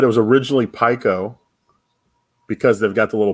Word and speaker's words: Pico: Pico.